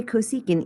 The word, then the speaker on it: cosecant: one is cosecant so we're always going to say cosecant even when you see this little csc and that is just